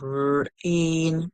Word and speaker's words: rain: The I is actually silent in this word, so the A is making the sound.